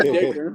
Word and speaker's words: Dicker: by a certain kicker whose name rhymes with kicker. He might not have been a bad pickup after all. Right? You're not talking about. You're talking about Dicker, huh?